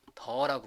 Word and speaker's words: dir: 그래서 다시 한번 dir 읽어보면 dir은 어떻게 발음해요? 더라고 발음하죠. 더.